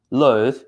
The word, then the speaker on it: loathe: Okay, loathe, the short pronunciation. Why? Because it is an adjective. On the other hand, B, loathe, is a verb.